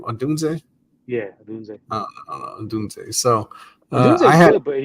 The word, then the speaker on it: Odunze: Yeah, Odunze.